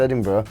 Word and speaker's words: Edinburgh: We discussed it's pronounced Edinburgh.